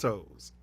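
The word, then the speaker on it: Towles: right yeah and Miss toes when they got fired ain't that funny her name was told me yeah it smelled like but it was t-o-w-l-e-s but it's pronounced toes yeah yeah no way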